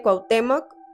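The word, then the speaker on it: Cuauhtémoc: mejica ustedes me dicen De qué forma se pronuncia cuautemoc efectivamente cuautemoc al que le quemaron los pies Hernán Cortés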